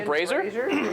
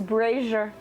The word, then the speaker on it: brazier: oh boy razor ah yes was this a brazer apparently it's brazier uh well i'm illiterate can't pronounce anything there is this brazier at the